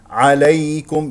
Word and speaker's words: عليكم: ليس ياء سهله لينه عليكم ياء ايضا سهله لينه ياء ساكنه قبلها مفتوح والكاف لا تفخمه تقول عليكم الكاف مرققه عليكم هنا ميم مظهره عليكم